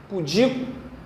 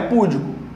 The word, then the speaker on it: pudico: Pudico. O que é pudico? Tímido, envergonhado. Eu sou um homem pudico, por exemplo. Não é púdico, é pudico.